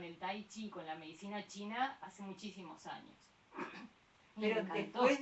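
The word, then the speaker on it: qi: cómo lo pronunci amos chi chi chi se escribe I pero lo pronunciamos chi bueno en algunos se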